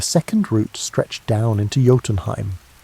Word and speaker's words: Jotunheim: The second root stretched down into Jotunheim, pronounced Yo-tun-heim, land of the giants.